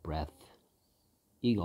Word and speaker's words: breathe: breath e가 없습니다. 그 ea의 발음도 달라진다는 거 이때는 에 발음이고요. 뭐 발음 기호로 하면 breath고요. 얘는 breathe 여기 있죠. E 발음 breathe. EA의 발음이 달라진다.